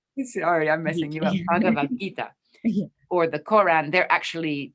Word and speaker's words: Bhagavad Gita: Bhagavad Gita. Sorry, I'm messing you up. Bhagavad Gita.